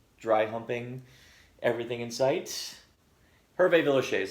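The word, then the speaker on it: Hervé Villechaize: humping everything in sight Herve Villechaize that's how you pronounce his name thank you I didn't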